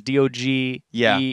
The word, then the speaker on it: Doge: I think it's Doge. Heard somebody who's like doggies. I'm like Doge because D-O-G-E is already a word. Whatever. I'm putting my foot down. It's pronounced Doge.